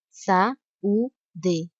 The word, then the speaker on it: saúde: a semivogal na palavra saúde. Sa-u-de. Essa era uma pegadinha. Se você percebeu que a letra A e a letra U são pronunciadas com a mesma intensidade e as duas são vogais, você acertou.